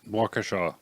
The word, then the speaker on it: Waukesha: How do you pronounce it, Scotty? Waukesha.